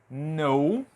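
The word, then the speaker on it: know: letras k e n quando você tiver essas duas letras seguidas quando isso acontecer geralmente a letra k vai ser muda e aqui eu vou escrever alguns exemplos para você a palavra no que é a palavra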